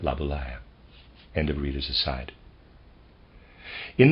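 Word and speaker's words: Laboulaye: Stewart Mill readers aside I'm pronouncing labala probably incorrectly it's a French word I'm supposing and it's spelled l a b o u l a ye and I'm pronouncing that laaya end of reader aside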